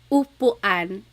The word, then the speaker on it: upuan: So ulan, upuan, rain and chair, U. Not like under or umbrella. The letter U in Tagalog has an U sound.